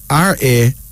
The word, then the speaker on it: Ramota: Ramota. Ramota. R-A-M-O-T-A. Pronounced Ramota.